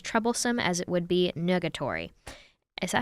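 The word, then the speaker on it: nugatory: would be as troublesome as it would be negatory is that how you pronounce it yeah n-u-g-a-t-o-r-y i've never seen that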